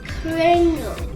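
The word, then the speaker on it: Kringle: sure to get someone we're in town first Pringle in my life good except we pronounce it cringle you got it yeah kingle cringle cringle it's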